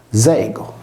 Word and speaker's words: Diego: Tutti questi pronomi sono contenuti nel nome di persona Diego, pronunciato Zego.